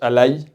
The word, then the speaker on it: A11Y: C'est un mot qui est important parce que A11Y, c'est A11 puis Y, ça s'écrit A11Y, ça se prononce ally en anglais.